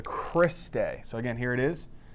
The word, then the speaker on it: cristae: mitochondria okay so what how do you say that it's called the Chris de so again here it